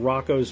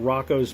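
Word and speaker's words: Roko: So, I'm talking about Rocco's Basilisk. And yeah, I pronounce it Rocco.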